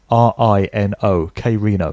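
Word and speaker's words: Krino: His name is spelt K-R-I-N-O, K Reno.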